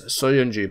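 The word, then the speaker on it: Söyüncü: So, it is Chagla, and the surname is Soyuncu.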